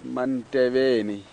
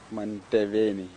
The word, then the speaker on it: Manteveni: It's Manteveni. I don't know if you'll be able to pronounce that, Kelly. Manteveni.